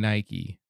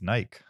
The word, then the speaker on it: Nike: letter to n and it's Nike but it's not an English word it's a Greek word I'm just saying I